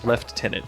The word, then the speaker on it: lieutenant: So, objective one, kill the left lieutenant, the left tenant, if you will. Ah. Ah. Ah. I don't get it. It's It's like the British pronunciation.